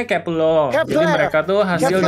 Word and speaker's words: Kep1er: Iya, ini bacanya Kepler.